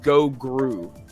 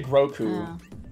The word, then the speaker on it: Grogu: I keep calling him Gogru. Goku. Yeah, because of Goku. Like Groot? Yeah, it really is not. It's not a good name. I say Grogu. Oh. Yeah. Grogu?